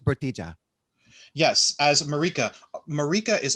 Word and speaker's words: Bertila: this ep episode are vaughn armstrong as lancer bertila damas as marika it's pronounced bertija yes as marika marika is also a nasty